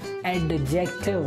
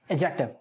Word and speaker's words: adjective: I'm talking about Indians, we guys pronounce it as adjective, which is incorrect. That's not the correct pronunciation. We pronounce it as adjective, adjective. So the letters D and J go together as J. J. So the correct pronunciation is adjective.